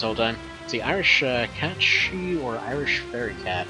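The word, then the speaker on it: sidhe: and it's like S-I-D-H-E, and they're like, it's pronounced she. Like, you must be high or something. And so I looked it up, and sure enough, I've been pronouncing it wrong this whole time. See, Irish cat she or Irish fairy cat, right?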